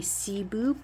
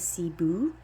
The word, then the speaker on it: Cebu: This one is my Cebu Blue pothos, and I named this one Taboo because it rhymes with Cebu.